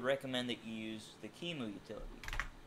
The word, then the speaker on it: QEMU: Before you install it on an actual computer, I would recommend that you use the Kimu utility spelled like this.